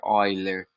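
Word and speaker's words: Euler: né a escrita é eu né mas a pronúncia né other Tá certo gente a gente usa Então essa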